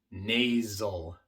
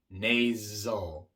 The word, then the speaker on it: nasal: Por ejemplo, en palabras como nasal, nasal, la S es sonora.